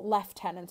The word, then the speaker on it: lieutenant: Victorian wind-up to the French Lieutenant's woman or leftenant if you pronouncing it properly in which Charles sets